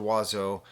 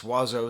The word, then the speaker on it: Oizo: possibly give to the album voila by mr wazzo and that's wazzo spelt o-i-z-o i'm just saying it right up